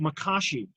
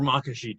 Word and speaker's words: Makashi: Form 2, Makashi, or Makashi, depending on which syllable gets the emphasis.